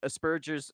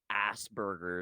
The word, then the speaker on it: Asperger: diagnosis yes autistic like Aspergers Aspergers Syndrome like stuff like that anybody God I hate the way Americans say Asbergers asers it's like Asperger syndrome like is is like